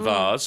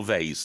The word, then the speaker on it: vase: Yeah, $3.99 was the price for the vase, or I should say, or vase, depending on your pronunciation. Both are okay.